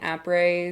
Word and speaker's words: après: say après s? Yeah. And I heard I've heard people say après and après s. So, it's après. The S is silent. The A is a soft A.